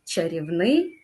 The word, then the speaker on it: чарівний: наголос на перший склад новий чарівний фаховий наголошуємо Як ви зрозуміли знову ж таки останній склад наступне завдання наступне завдання